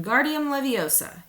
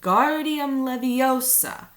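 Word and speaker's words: Wingardium Leviosa: arms like a windmill you're saying it wrong here he hurt her money snap it's when Guardium Leviosa make the GAR nice and long you'd do it then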